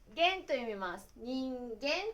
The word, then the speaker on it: 人間: Có một cách đặc biệt để đọc chữ Kanji cho "間", đó là "gen." Bằng cách vẽ từ "人間," được đọc là "nin gen," có nghĩa là "con người".